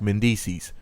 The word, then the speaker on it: Mendices: she better go ask Mendices, rhymes with feces, and get the fuck out of his face.